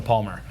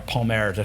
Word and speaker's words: Palmer: Like if you want to go right to Margaux's neighbor, I've got Chateau Palmer. Okay. Or Palmer to be pronounced correctly, but here in America it's Palmer.